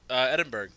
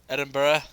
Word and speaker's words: Edinburgh: Edinburgh. That is not how you say it. Edinburgh.